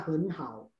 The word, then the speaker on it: 很好: Ketika nada ketiga dan nada ketiga ketemu, maka depannya jadi nada kedua. Ingat ya, jadi bacanya henhao.